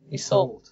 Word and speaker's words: Yseult: how to say it theault it's actually Irish ah good I I didn't get it so wrong then it's usually spelled with a EY Salt and great to have